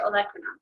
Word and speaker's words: olecranon: how to pronounce them, but capitulum, you put the emphasis on that middle or that second syllable, and it's the same for the olecranon process.